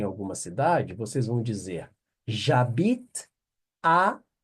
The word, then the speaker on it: J'habite: J'habite. J'habite. A frase vem até aqui, ó, até o T, a pronúncia, ó.